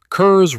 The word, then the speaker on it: Curze: Konrad Curze. Curze rhymes with curse, and that is not an accident, either.